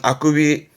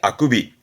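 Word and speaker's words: 欠伸: 발음은 아쿠비. 이건 통째로 기억해 두시는 거예요. 특별음으로써 통째로 기억해 두시는 하품의 아쿠비.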